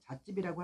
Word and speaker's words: 자집: 우리가 세게 부르는 발음으로 인해서 잣집이라고 하는데 이렇게 뭐든지 그냥 소홀히 생각하지 않고 이렇게 뭔가 넣고 포장해서 보관하는 우리나라의 문화이기도 하죠.